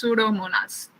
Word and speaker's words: Pseudomonas: Pseudomonas. The P is silent, so it's Pseudomonas.